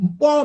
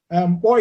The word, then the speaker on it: Nkpor: Also, there is the so-called Mpo massacre. Mpo is spelled like NKPOR, massacre, on 30th May 2016.